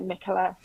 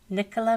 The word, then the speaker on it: Nicola: it's fine I know in America it's usually pronounced Nia but yeah Nicola Nicola and you are life now coaching and